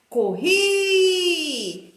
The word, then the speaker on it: corri: Então a palavra escrita com I, a última sílaba é a tônica, é a forte.